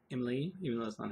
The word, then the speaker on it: Emelie: describe my time watching i believe it's pronounced emily even less on how